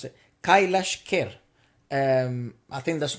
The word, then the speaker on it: Kailash Kher: this is i just wrote down how to pronounce it kailash kerr um i think that's not too far and